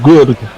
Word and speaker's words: Garg: Nitin Bajaj says Garg is pronounced Gurg. Gurg as in gurgle, but pronounced the R.